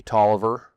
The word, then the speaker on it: Taliaferro: Yeah, they don't say Taliaferro, they say Tolliver. Is the correct way to pronounce it.